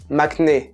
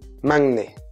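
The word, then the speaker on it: 막내: de kpop par exemple le fameux mac n'est qu'on entend partout mais en fait ça se dit mam nay mind et même si ça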